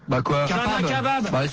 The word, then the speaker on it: incapable: Incapable. Je rappelle aux auditeurs d'ailleurs pour tous ceux qui sont là, il y a des profs de français qu'on ne prononce jamais le L entre le BLE. C'est incapable.